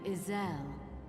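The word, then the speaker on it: Ysayle: who I am I was given the name Isel but I ear name ice heart I'm glad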